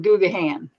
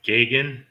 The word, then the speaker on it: Gagan: There's another girl in the community that calls him Googahan. Googahan. Or as Emily would say, Googahan. See? But it's pronounced Gagan?